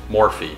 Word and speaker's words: Morphe: know we're using Mac and I believe they pronounce it morphe yeah because I was at Ulta yesterday with